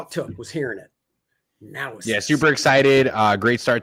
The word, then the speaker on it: Naosis: And I'll pronounce it wrong. Project Naosis. I will never say it wrong again. Naosis. That's all it took was hearing it. Naosis.